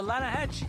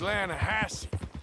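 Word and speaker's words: Lannahechee: no no no no no no the the lahache it runs right near here yeah but it's pronounced lanahassee why is everything in English said differently than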